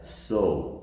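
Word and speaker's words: sew: The sound is exactly the same.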